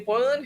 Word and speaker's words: Boland: Lindsay Boland, former Is that how you pronounce it? Like there's like an uptick at the end. Okay. Yeah. Uh uh we hung out with Lindsay Boland who worked in Andrew